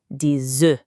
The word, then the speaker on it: des œufs: For just one egg, we say enough. Did you hear that? Enough. That F sound at the end is there loud and proud. But when we have more than one, we say dz. Poof. The F is completely gone. It's a whole different sound.